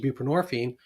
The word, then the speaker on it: buprenorphine: And so it it actually that that formulation became the basis for Suboxone um which was an older medication buprenorphine and rhymes with morphine as a narcotic itself.